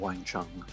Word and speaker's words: Wang Chung: a cool name, but why don't you just spell it like you say it, sort of Wang Chung.